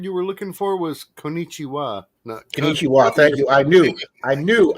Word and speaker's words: konnichiwa: think the word you were looking for was konnichiwa thank you i knew i knew i knew i pronounced that wrong it's like you didn't be